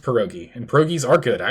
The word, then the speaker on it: pierogi: Yeah, it's pronounced pierogi.